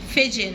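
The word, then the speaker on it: vision: جيم ونون مع بعض فيجن فيجن فيجن فيجن زي كلمة تليفزيون كده برضو اخرها اس اي او ان يبقى الاس اي او ان بننطقهم جيم ونون فيجن فيجن فيجن فيجن صديق للبيئة جرين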